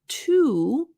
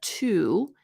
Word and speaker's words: to: So again, instead of to, when you're studying English, you learn this word, which technically the pronunciation of the word individually is to. It rhymes with the number.